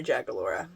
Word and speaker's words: Jagaloria: So it's Jagaloria Sales. Of course, there's a link below, but you would actually put that into search. Yep. So okay. It's Jagalories. Right. The I is silent for Jagaloria.